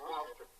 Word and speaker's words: Gloucester: Pronounced Gloucester.